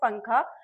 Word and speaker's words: पंखा: इसे आप चाहे पी यू एन के साथ कर लो या पी ए एन के साथ। इट is always pronounced as पंखा।